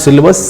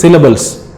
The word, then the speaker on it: syllables: It is not syllabus, syllables as a material of learning.